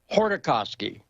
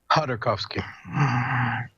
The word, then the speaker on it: Khodorkovsky: It's like Hordakovsky, right? It's the K's silent. Khodorkovsky.